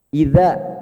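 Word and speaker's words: إِذَا: Pokoknya kalau lihat bentuk seperti ini dibaca 2, Pak. Lihat bentuk seperti ini 2. Contohnya misalnya idza dalam surat An-Nasr, idza. Idza. Nah, contoh. Dibaca 2.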